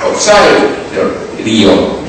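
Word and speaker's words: ὀψάριον: Yo lo verifiqué en el griego, y la palabra que está allí es una palabra que es opsairon, con acento en la A, opsairon.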